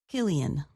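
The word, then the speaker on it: Cillian: His first name is pronounced Killian.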